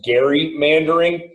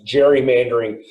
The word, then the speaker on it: gerrymandering: gerrymandering um or perhaps it actually should be pronounced gary mandarin um it's always it's always pronounced gerrymandering but it comes from elbridge gary who is